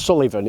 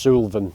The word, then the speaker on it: Suilven: bit funny to pronounce it's not Sullivan it's just Sylvan but anyway it is